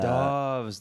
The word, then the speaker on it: Doves: And uh Doves, that's how you say it.